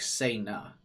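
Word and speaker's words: Sena: It's pronounced kind of like Say-na.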